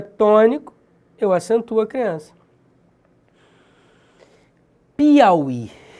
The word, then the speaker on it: Piauí: Observe que Piauí, a sílaba tônica é esse I aqui. Só que esse U aqui é uma semivogal. Semivogal separada de vogal é um falso hiato.